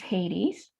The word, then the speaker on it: Hades: So now we're going to move on to Hades, sometimes pronounced Hades.